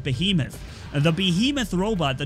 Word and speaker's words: Behemoth: how to pronounce the I said BAE him off but you guys told me it's called behemoth and the behemoth robot